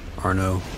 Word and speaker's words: Arnaud: Arnaud. Spelled with a D at the end, but no one ever pronounces the D, so I'm not sure.